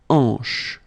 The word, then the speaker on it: hanche: Remember, H here is not pronounced, so you get the sound en, hanche at the beginning.